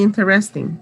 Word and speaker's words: interesting: facilities okay just for you to correct the pronunciation of some words it's interesting okay it's not interesting and it will never be interesting it's okay try it out interesting another one